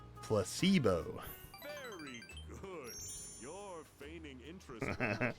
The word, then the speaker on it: placebo: The stress is on the middle syllable. Placebo.